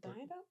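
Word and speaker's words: Didot: and he pronounces it Daido, but he's also British, so who knows? Oh, no. Yeah, I've also only ever heard other designers pronounce it Daido. So, Daido, that's actually Maybe it's not French.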